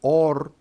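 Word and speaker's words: אור: Y en el libro de Génesis, luz se pronuncia or y tiniebla se pronuncia shosé.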